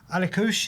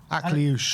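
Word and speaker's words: Akliouche: But obviously, Alikush, is that how you pronounce it right? Akliush. Akliush, okay, excuse me.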